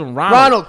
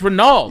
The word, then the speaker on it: Ronald: my own yeah and everybody calls Ronald it's not Ronald it's not Ronald its Renault there's nobody from Venezuela named Ron I didn't know it